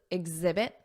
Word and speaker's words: exhibit: are demonstrate exhibit exhibit notice that Z exhibit exemplify Z exemplify and